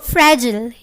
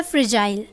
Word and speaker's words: fragile: The next is फ्रैजिल या फ्रिजाइल। दोनों अलग अलग प्रोनाउंसिएशन है एक ही वर्ड की, एक अमेरिकन और एक ब्रिटिश। तो अमेरिकन एसेंट में इसे हम कहते हैं फ्रैजिल।